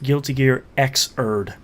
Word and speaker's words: Guilty Gear Xrd: new guilty Gear's name it is Guilty Gear xrd Das sign Dash uh that's actually pronounced Guilty Gear xerd what what you what